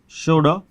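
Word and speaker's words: should: इसमें ध्यान रखना है कि जब भी ओ यू यानी एल से पहले यदि ओ यू आया है तो उसका उच्चारण ऊ में, ओ यू ऊ में बदल जाएगा, और साथ ही साथ एल जो है वो साइलेंट हो जाएगा।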